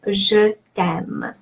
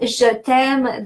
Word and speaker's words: Je t'aime: So Je t'aime, the rules of pronunciation that you can find here, the final E in je is pronounced E because it doesn't have an accent. T'aime, the apostrophe replaces the E from te, which means you, and that appears because E and A are both vowels, and just to make